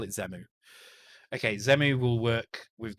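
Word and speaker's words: Xemu: pronounce it so uh i think he said like zen on so zemu so z move let's call it z move from now on so zemu will will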